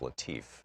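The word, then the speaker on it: Latiff: Our book today is Future War, Preparing for the New Global Battlefield by Robert, I believe it's pronounced Latif, L-A-T-I-F-F.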